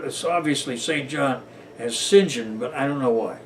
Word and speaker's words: St. John: way to Arabia and by the way they pronounced it is what what is obviously st. John as Sinjin but I don't know why Hey so you